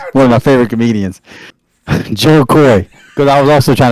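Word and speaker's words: Jo Koy: in the day one of my favorite comedians Joe Koy cuz I was also trying to think of his name to make sure I pronounced it correctly it's Joe Koy and man he was talking about um kids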